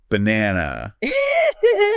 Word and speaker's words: banana: The first and last syllables are just throwaways. Let's try another one. Banana.